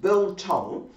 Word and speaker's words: biltong: I've got to say it right, biltong.